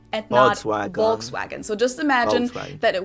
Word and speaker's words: Volkswagen: go by the full name it would be pronounced volkswagen volkswagen so just imagine that it was spelled with